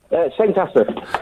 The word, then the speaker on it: St Asaph: How do I pronounce the name of your town, Neil? St Asaph. St Asaph.